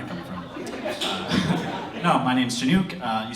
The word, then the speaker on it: Shenuque: No, my name's Shenuque. You spell it this way?